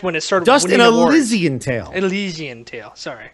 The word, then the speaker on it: Elysian: mast and II know he wanted it like Elizabeth so elysian so everybody game says